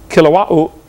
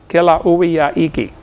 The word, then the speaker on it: Kilauea: Basalt from Mount Kilauea, however you say that. They pronounce every vowel over there in Hawaii. Kilauea-iki, but something like that.